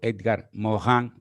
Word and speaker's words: Edgar Morin: los últimos años francés edgar morin o edgar mohan como se pronunciaría tal vez en francés nos dice en estas